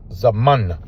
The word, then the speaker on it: Zamana: This is a a z a ma. And that's the uh that's a final na. Okay. Zamana. That's how you pronounce that.